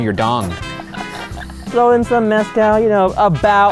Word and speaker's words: mezcal: dong throw in some mescal you know about i believe it's pronounced mascara oh sorry we're here